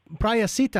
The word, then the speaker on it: Prahasita: program and um uh praia sita i believe is how you pronounce your name am i did i pronounce that correctly yes yes you are